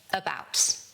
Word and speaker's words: about: The stress is on the second syllable, 'bout. So, we say about. About. Not about, about. And that first syllable is the schwa.